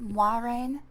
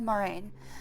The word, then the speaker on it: Moiraine: It's pronounced Moraine. Actually, I think it's pronounced Moiraine. I've always said Moraine. Moraine had a commanding grace and calm presence that could dominate any gathering. I just called her Moron. I think it's supposed to be pronounced Moiraine, but I always say Moraine.